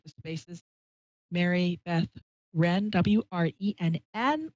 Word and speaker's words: Wrenn: Wren, like the bird. Or I used to say like Ren and Stimpy, but that's old. WRENN. It's English W, but the W is silent.